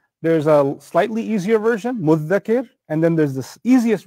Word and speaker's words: مُدَّكِر: But then there's, even the dhal is hard to pronounce because you have to stick your tongue out. So what's the easiest version of it? Muddakir. Muddakir. So the dhal becomes a dal.